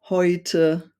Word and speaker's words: heute: And it could be an A umlaut, Ä, plus an U, or E plus U is pronounced Oi. So if you read words with these combinations, it could be like Leute, äußern, heute.